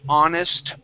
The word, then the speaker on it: honest: We have we have very few words in English where we uh do not pronounce the H. The most common words are going to be honest, honor, and hour.